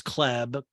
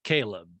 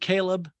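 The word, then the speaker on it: Chleb: her old acquaintance was cleb chubbs caleb his name is spelled c-h-l-e-b you pronounce it caleb my dyslexia makes me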